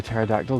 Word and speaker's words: pterodactyl: Which reminds me, why is it impossible to hear a pterodactyl going to the toilet? Because the P is silent.